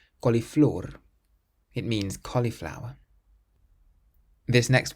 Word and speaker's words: coliflor: Then we have a word that ends in an R, so we stress the last syllable. Coliflor. Coliflor.